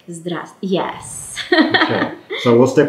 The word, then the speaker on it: здравствуйте: audience, it's just like, здравствуйте. Yeah, say that slowly. Yes, здравствуйте. That has too many consonants all in a row. And again, здравствуйте, it's a short version from здравия желаю.